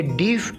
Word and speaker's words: deaf: गो डेफ। ये डीफ नहीं होगा बल्कि डेफ प्रोनाउंस किया जाएगा।